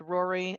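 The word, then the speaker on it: Rorai: the next one um is r-o-r-a-i three-year-old female pronounced Rory again that one is more sensical but why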